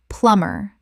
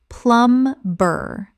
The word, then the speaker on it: plumber: Plumber. Common mispronunciation. Plum-ber. Correct pronunciation. Plumber. The B is completely silent. Two syllables only.